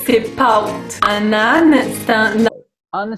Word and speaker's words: pâte: Le A avec un chapeau devient aou. C'est pas pâte, c'est paute.